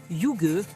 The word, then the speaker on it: hygge: Un petit rituel inspiré de ce mot déconcertant qui se prononce hygge, l'art de vivre à la danoise.